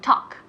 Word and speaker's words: talk: Pero talk, la pronunciación, la L, remember, recordad, la L es muda, no se pronuncia la L.